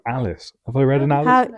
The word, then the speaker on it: Alis: Yeah, like Alice, but I just hadn't thought of it.